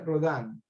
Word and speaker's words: Rodin: Se escribe Rodin, se pronuncia Rodin.